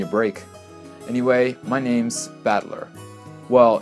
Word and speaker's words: Battler: the characters for fight and person and it's pronounced battler put it all together and you've got ushiramio